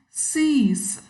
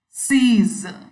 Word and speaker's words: sees: Most of us pronounce sees as sees, sees. The last S is sounding like s, whereas the actual pronunciation is z, z. These, sees.